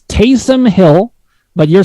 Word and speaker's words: Taysom: i said tariq hill i said tyson l okay it's taysom hill but you're saying